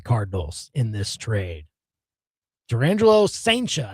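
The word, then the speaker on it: Cijntje: Durangelo Saincha, I think is how you say the last name. I just saw one video clip though. It won't look like it's spelled, but yeah, Saincha is the video clip where he's saying the name himself.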